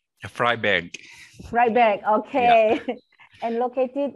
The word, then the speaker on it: Freiberg: It's a status a public university, and also we have TU Bergakademie Freiburg. Is it correct, my pronunciation? Freiberg.